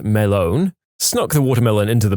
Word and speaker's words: Melon: Named him Walter Melon, pronounced Melone, snuck the watermelon into the bar and generally just passed it around and praised him for being a good melon.